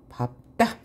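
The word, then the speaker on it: 밟다: 그 예외는 요것이에요. 밥다. 원래 리을, 비읍 이잖아요. 리을, 피읍, 리을, 미음, 리을, 기역 외에는 뭘로? 리을로 발음해야 하는데 얘는 예외예요. 밥다의 경우에만요. 그래서 밥다, 밥고, 밥지라고 발음해야 되고요.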